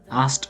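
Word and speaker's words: asked: টু মাই মম মি এটার উচ্চারণ হবে এস টি এর মত এস টি আস্কড উচ্চারণ হবে আস্কড বলা যাবে না মাই মম আস্কড মি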